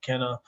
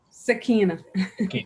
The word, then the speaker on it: Sakina: monday with me and kenna we are both is that am i pronouncing that right kenna sorry say that again am i pronouncing your name right sakina all right i got you yeah um so me